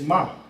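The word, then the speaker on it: מ: So when you think like ma, and all of a sudden you're thinking of Hebrew, like, man, I just said from.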